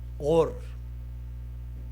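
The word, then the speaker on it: אור: el Antiguo Testamento es una palabra que se lee OR. Esa es la pronunciación en hebreo de la palabra luz. Y la primera vez que encontramos la palabra OR se encuentra en Génesis capítulo 1.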